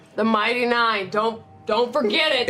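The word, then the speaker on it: Nein: But spelled like N-E-I-N. The Mighty Nine.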